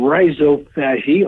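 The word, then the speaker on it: rhizophagy: they termed it uh I'm going to give it the American pronunciation Riso fagi RH i z o Riso of course meaning root and fagi meaning eating so root e and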